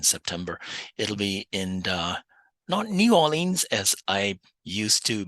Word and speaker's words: New Orleans: It'll be in uh New Orleans as I used to mispronounce the name of the city. I got corrected and it's New Orleans. So, I'll be heading back to New Orleans in between uh having coffee and beignet